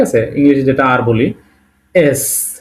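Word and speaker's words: С: ঠিক আছে, ইংলিশে যেটা আর বলি এস। সি কিন্তু সবসময় এই জিনিসটা ভুল হতো আমার নিজেরও, এটা কিন্তু সি না, এটা অ্যাকচুয়ালি এস। এস, রাশিয়ান এটা এস।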